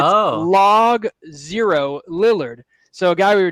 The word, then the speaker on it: Logo Lillard: Well, it's spelled Logo Lillard, but it's Log 0 Lillard.